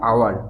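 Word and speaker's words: hour: ওকে, এখানে দেখো আওয়ার, উচ্চারণটা কিন্তু হাওয়ার নয়। ওকে, উচ্চারণটা আওয়ার, অর্থাৎ ভাওয়েল সাউন্ড দিয়ে শুরু হচ্ছে, তার জন্য এখানে হয়েছে অ্যান।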